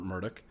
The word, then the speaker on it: Murdoch: Ailes' bosses, Lachlan and James Murdoch, the sons of Fox's longtime owner Rupert Murdoch, announced the resignation in a statement that emphasized